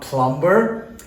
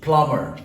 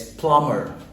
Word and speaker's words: plumber: a hint it's not plumper it's plumber here the B is silent okay it's plumber starts with the letter